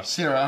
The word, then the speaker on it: Syrah: How do you pronounce it? I've been saying Syrah. Syrah, all right, thank you.